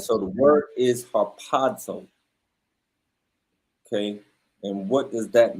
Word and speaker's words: harpazo: then let's get the definition strong G 726 harpazo Haro exactly right so the word is Haro okay and what does that mean okay for